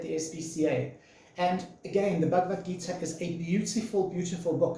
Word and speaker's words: Bhagavad Gita: quite how old, is a book called the Bhagavad Gita. I always pronounce that wrong. It's the Bhagavad Gita.